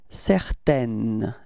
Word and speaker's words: certaine: Okay, feminine form, it's certaine, N-N, certaine, repeat.